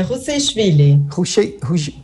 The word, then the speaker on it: Ruseishvili: Professora, me permita, a pronúncia do seu sobrenome é esse mesmo, por gentileza? Boa tarde, é Rushevely.